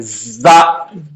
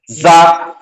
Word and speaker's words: زا: اب زا کے اندر, زا کے تلفظ میں زبان ٹچ نہیں ہوتی, لیکن زبان کی نوک کا حصہ اس کے ذریعے سے نکلتا, وہاں سے سیٹی کی آواز نکلتی, زا, زا.